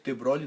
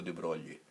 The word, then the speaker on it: de Broglie: Aí ele afrancesou o nome dele, terminou o A aqui, botou IE, ficou de Broglie. Então por isso que a pronúncia é diferente da pronúncia normal do francês.